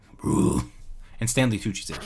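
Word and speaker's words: Brühl: It has the U with like the 2 dots. It's like Uber. It's Bruhl. Bruhl.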